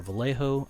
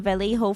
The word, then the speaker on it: Vallejo: Vallejo is technically correct, but people have been saying Vallejo for years. Yeah, because I didn't know 2L. Okay, yeah, maybe it's not common knowledge because I didn't know that 2 L's make a Y pronunciation.